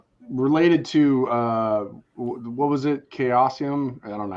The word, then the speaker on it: Chaosium: Chaosium? I don't know how you pronounce it. The weird Cthulhu company. Yeah, Chaosium.